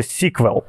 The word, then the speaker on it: SQL: яких - це мова SQL або це абревіатура ще читається sequel е а інший спосіб